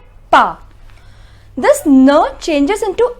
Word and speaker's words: pas: The pronunciation is ne and pa.